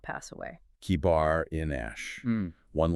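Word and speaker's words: kebar enash: Kibar inash, one like a son of man.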